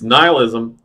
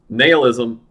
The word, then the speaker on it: nihilism: in a very now this word is pronounced three different ways in English English and Americanized English it's nihilism Nail ISM neill ISM take your pick all three no matter